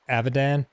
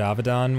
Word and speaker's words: Avidan: time they just always thought my name was pronounced avidan because that's how they said it amongst themselves and so when I said Ovid on one time like that's not how you say